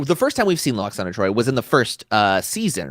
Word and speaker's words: Lwaxana: I'm really glad that we've brought in the W into Lwaxana. Because she pronounces it in this episode. She's like, I am Lwaxana Troi.